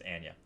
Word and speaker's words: Anya: Anya Taylor-Joy, that's how you pronounce it, by the way, not Anya, it's Anya. Anya Taylor-Joy led this thing